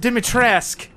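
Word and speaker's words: Dimitrescu: one of them was the pronunciation of dimitresk now I'm kind of a snob for pronunciations I always like it when things are pronounced correctly but if the game says it's pronounced dimitrisk you can't argue with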